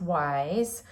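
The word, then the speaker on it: YSE: Oh, the wise beauty. This isn't YSC, it's pronounced wise.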